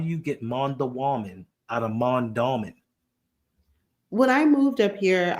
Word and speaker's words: Mondawmin: It's Mondawmin. Mondawmin. Just like Mondawmin. I don't know where you get the dwa.